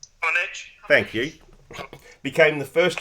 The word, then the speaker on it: Comaneci: At the 1976 Olympic Games in Montreal, gymnast Nadia Comaneci, how do you pronounce her name? Comaneci.